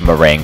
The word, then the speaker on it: meringue: Next time, it'll be part 2 of Meringue Clouds, and yes, it is pronounced meringue.